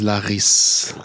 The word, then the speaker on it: Larrys: First of all, can you tell us how's what's the proper pronunciation of your first like first name? The proper one is Laris.